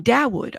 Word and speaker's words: Dawood: Oh, Dawood. Okay, so like that. Dawood. Dawood Burke? Is that correct? It's Arabic.